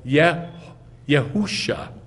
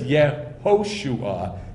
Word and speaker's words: Yehoshua: And so they say the name of Yeshua is not Yeshua, it's Yehusha. And I've seen this all over the internet. This is where it comes from. Because they don't know the kibbutz vowel. They say Yehushua, not, I'm sorry, it is Yehoshua, not Yehusha.